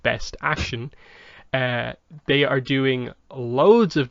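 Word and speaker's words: BST AXN: Their new action figure line, BST space AXN, pronounced Best Action.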